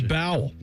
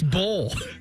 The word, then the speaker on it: bowl: Okay, what if you throw a B on that? Yeah. It should be bowel. But it's bowl.